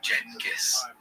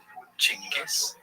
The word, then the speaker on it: Genghis: The name has quite a few pronunciations. Jenis, Chingis, Genghis, and depending on language and history, they're all acceptable.